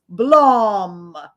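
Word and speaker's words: Blame!: the examples are Akira blame and berserk that I could find or if you're gonna use the Netflix adaptation pronunciation that middle one is Blum it's the way they yelled it every time Blum then you've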